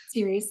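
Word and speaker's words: Ceres: the federal policy team at, how do you pronounce that, Series, yeah. Series, thank you.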